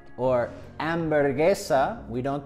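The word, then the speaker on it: hamburguesa: the H in Spanish we don't pronounce the h no matter where it is in the word for example hermana we don't pronounce hermana or ambergesa we don't pronounce hamburgesa so if you're practicing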